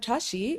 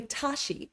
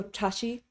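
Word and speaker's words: བཀྲ་ཤིས: for example the word Tashi in Tashi de is actually a TR sound but people say Tashi they completely drop that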